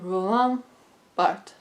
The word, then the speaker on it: Roland Barthes: down, was Mythologies by Roland Barthes. That's how French people say it.